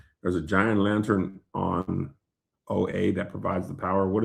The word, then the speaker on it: Oa: Oh, it's pronounced oa.